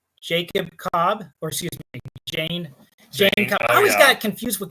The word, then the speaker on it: Jayne: And then we have Jacob Cobb, or excuse me, Jane Cobb. I always got confused with that at first because he's the big tough dude, but his name is Jane. It's spelled Jayne. Cobb.